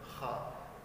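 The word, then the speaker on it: خ: Nah, pada saat pelafalan huruf kha, jangan sampai mulut kita ini monyong ke depan ya teman. Contoh kha, ya, mulutnya monyong ke depan. Nah, ini salah. Kenapa? Karena membentuk huruf o.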